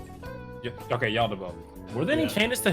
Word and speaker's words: Yaldabaoth: How do you pronounce his name? Yaldabaoth. Yeah. Okay, Yaldabaoth.